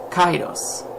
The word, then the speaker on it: Kairos: So I found a 2-syllable name I really liked, which is from Greece, which is Kairos. Now, Kairos is a name. It's also the Greek way of saying Cyrus.